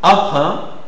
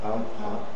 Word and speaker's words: emprunt: Commun commun commun commun emprunt emprunt emprunt emprunt tribin. Tribin. Voilà. C'est un peu difficile mais bon, on peut toujours essayer et vous devez penser toujours à à arrondir les lèvres.